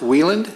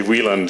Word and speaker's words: Wieland: And you pronounce it Wieland? It's actually Wieland, yeah. The Wieland. Germans, IE, are exactly the opposite pronunciation For of us.